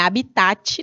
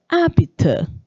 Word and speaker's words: hábitat: Não é habitat, não, viu, bando de cabeção? É hábitat. Hábitat. Como é bonitinho falar? Hábitat. Não é habitat, não. Esse T é mudo igual o H do meu nome, apesar de que todo mundo me chama de Ramanda.